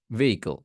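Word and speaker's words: vehicle: প্রথম ভিটা দেখতেছেন এইটাই ভেহিকেল ভেহিকেল ভিহিকেল ভেহিকেল নট ভেহিকেল এটা হবে ভিহিকেল ভি বুঝতে পারছি আচ্ছা পরেরটা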